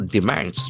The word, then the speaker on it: demand: Demands. D E M A N D. So that is a very interesting verb. Demand. Demand. Here also the accent for second demand.